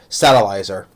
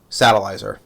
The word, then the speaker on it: Satellizer: No, it's not Salazar. Satellizer.